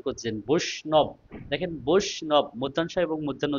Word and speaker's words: বিষ্ণু: এখন দেখেন, এখানে আমরা যখন উচ্চারণ করছি বিষ্ণু, দেখেন বিষ্ণু, বিষ্ণু, তার মানে এখানে একটা স উচ্চারণ করছি আর একটা ন উচ্চারণ করছি, দন্তান্ন ন, তাই না?